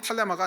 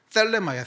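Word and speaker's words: θέλημα: 탈레마가 이제 정확히 탈레마가 아니고 발음인데 땡큐 할 때 그 떼때 이렇게 해서 셀레마야 셀레마인데 예 칼니 딸레마라고 하는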